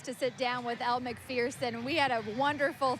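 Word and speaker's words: Macpherson: Well, I'm going to start with, Americans have been mispronouncing your name, and folks might have just heard me say McPherson. That is the correct pronunciation.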